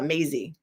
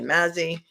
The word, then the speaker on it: Maisy: 2023 before The Honorable Timothy P ma uh Maisy he pronounces that Maisy I would say Mazy they say maing that's how they say it